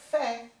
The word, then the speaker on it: fait: Olha, aqui a gente vai falar fait. Ó, aqui como eu tenho R, eu vou pronunciar o R. Faire, né? O verbo faire, o verbo no infinitivo, tá certo? Mas se eu estou pronunciando o verbo conjugado, il fait, vira só porque o que a gente falou? Mais I vira é.